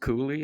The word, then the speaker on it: Cooley: Yeah, well, I pronounce it Cooley, and I think that's Cooley, did I probably say Coley?